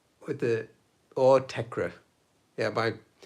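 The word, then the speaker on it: Autechre: Yeah, my friends when we were growing up pronounced it Autek. But they just decided like the R-E at the end is silent. But for ages, years and years, I thought it was Autek, like Autek. And then I heard other people say Autekra, and I thought, oh, that makes sense.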